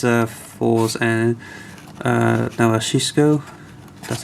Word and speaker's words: Fourze: wave with um in number two it's uh fours and uh that's how you pronounce the name this picture of them at